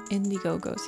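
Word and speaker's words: Indigo-Go's: Indiegogos.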